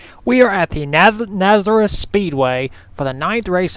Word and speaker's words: Nazareth: race at Nazareth Speedway I know I mispronounced it earlier Nazareth Speedway yes this track was